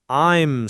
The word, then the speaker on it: I'm: It's not I am squished together. It's a smooth I'm sound almost like I with an M humming at the end.